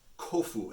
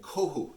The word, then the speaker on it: Kofu: rules in japanese that often that will swap certain sounds so hombu or humbu is as an example or kofu and kohu there's a city in japan so depending on how you want to pronounce particular parts of it both of those are correct so get